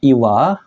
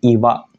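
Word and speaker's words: 岩: bisa Minasa Semangat ya untuk kunyominya adalah Iwa untuk yinya adalah Gang Cara pakainya gimana Langsung aja kita ke contoh contoh yang pertama kalau dia sendiri kayak gini tentu saja dibacanya kunyomi yaitu Iwa yang artinya batu besar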